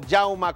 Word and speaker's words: Jaume: el mes de agosto yauma Cuellar así se pronuncia su nombre yauma Porque es un nombre Catalán era nacido en España